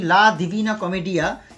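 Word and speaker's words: La Divina Commedia: আমরা যদি কোনো কারণে এর বিষয়টি বই লা দিভিনা কমেডিয়া এরকম একটি টাইপের উচ্চারণে এই বইটি তৈরি হয় এবং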